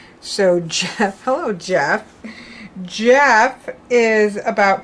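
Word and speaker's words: Gef: I'm sorry no and it's pronounced Jeff like a j so Jeff hello Jeff Jeff is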